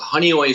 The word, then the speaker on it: Honeoye: a little town called Honeoye Falls it actually looks like Hanoi of Falls it's hard to pronounce cut it's a tiny